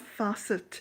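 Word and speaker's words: Fassett: Calf is spelt Kaffe, Facet Fasset.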